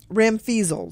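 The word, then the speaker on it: ramfeezled: fun word to say you should say it Ram feasel yeah I liked it better the way you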